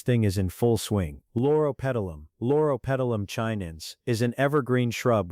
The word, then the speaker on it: Loropetalum: Loropetalum. Now forget the pronunciation and just remember this.